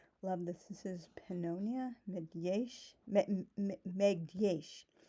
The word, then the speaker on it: Megyes: The G-Y sound in Hungarian isn't pronounced like a lot of people assume. It's not Megyesh, it's Megyesh. That it's kind of pronounced like the D-Y enduring or dew, depending on like the pronunciation you use of those words.